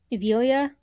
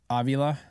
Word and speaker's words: Avila: would take um not that they took evilia right is that I pronounce it Avila yeah I don't think they